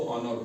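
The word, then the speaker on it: honour: है इसी तरीके से एच ओ एन ओ यू आर इसको ऑनर पढ़ते हैं क्या पढ़ते हैं ऑनर ऑनर पढ़ते हैं ठीक है लेकिन हनर नहीं पढ़ते क्यों नहीं पढ़ते हैं एच साइ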